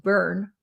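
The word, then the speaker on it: Boerne: Brad Simpson went to a Water Burger in I think that's pronounced burn b o e r n e and the bed of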